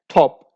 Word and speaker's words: top: We see that t is the first letter of the word, so it would be pronounced with aspiration as top.